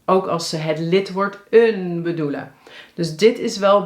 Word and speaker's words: een: Bedoel je het onbepaalde lidwoord? Bepaalde lidwoorden zijn de en het. Onbepaald is een.